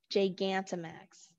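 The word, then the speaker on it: Gigantamax: when it is spelled out on how to pronounce it that is a hard j that's that's there is gigantomax all right well i'm gonna i'm going thanks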